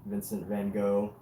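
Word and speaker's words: Van Gogh: Vincent Van Hawk I think that's how Dutch pronounce his name is Vincent Van Go Vincent Van Go.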